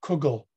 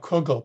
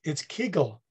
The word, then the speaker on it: kugel: So he talked about Kugel, but some people come up to him and they would say, Comrade Klessens, you're saying it wrong. It's Kegel, right?